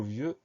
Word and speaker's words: vieux: Alors attention, le mot vieux, V-I-E-U-X. Donc le son E s'écrit E-U, et à la fin de ce mot-là, il y a un X qu'on n'entend pas une lettre muette.